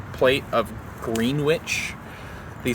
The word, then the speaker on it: Greenwich: It's like just say green witch. It's spelled green witch. It's literally right in front of your face. Why do you say Greenwich? Who's Gren? Why is he itchy?